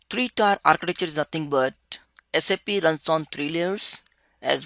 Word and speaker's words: SAP: and more what is sap is pronounced as sap never pronounced as sap of a tree it is a system application